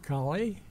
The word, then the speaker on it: Colley: by just having you say your name and spell it for us okay Robert Gibson colie that's a the last name c o l